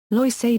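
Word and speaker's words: Loisaida: the area became gentrified Loa is a term derived from the Latino and especially yoran pronunciation of Lower East Side the term was originally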